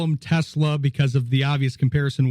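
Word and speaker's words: TeSlaa: Yeah, I'm kind of looking forward to, so how do you pronounce his name? Is it Isaac Tesla? Yeah, it's Tesla.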